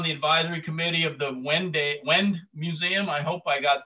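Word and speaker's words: Wende: She serves on the advisory committee of the Wend Museum. I hope I got that correct. Choi, is it Wend or Wenday or some other pronunciation?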